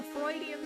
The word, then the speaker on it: Freudian: It's a Freudian slip, right? Cuz his name is Dr. Freud.